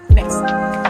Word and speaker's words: bes: Jadi kalau crash tadi kan is, tapi kalau mol ini S. Misalnya kita punya nada G plus mol, dibacanya ges. Jika punya nada B plus mol sama dengan bes.